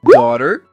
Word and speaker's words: daughter: As letras G e H não são pronunciadas?